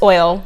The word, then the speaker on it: OYL: And how do you pronounce it? Oil? Yeah, it's oil. Okay. It's oil.